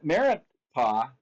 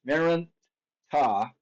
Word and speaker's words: Merneptah: Um, his son, Merneptah, I'm saying it over and over again so you remember how to pronounce it. Merneptah um, was 60 years old when he became king.